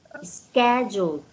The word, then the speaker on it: schedule: If nothing is scheduled. Schedule. That is a K. Schedule. You will pronounce as K.